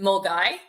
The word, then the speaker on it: Milngavie: It's right outside of Glasgow, and you actually pronounce it Mulgai.